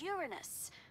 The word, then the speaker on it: Uranus: I don't mean to be a prude, but please, no jokes about Uranus. Besides, the proper pronunciation is Uranus. It's a dactyl.